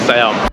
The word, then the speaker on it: Siam: And they don't pronounce it as Si-yaam but Sa-yaam.